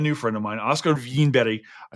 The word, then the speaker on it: Winberg: friend of mine, Oscar Vinbetty. I say this because he just told me how to pronounce his name correctly in Finnish. You might pronounce it Oscar Winberg as well, but he